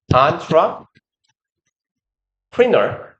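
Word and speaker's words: entrepreneur: 레퍼토아 정도로 발음합니다. 저 왜 예전에 기억나요? 기업가? 기업가 기억나요? 기업가? 그치. 안트라 프리너 이거 얘처럼 프랑스어 단어를 그대로 갖다 써놓은 케이스입니다.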